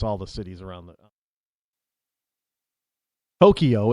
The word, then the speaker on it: Tokyo: I don't know how to pronounce all the cities around the Tokyo. It's Tokyo. No E in between the K and the Y. It's not Tokyo.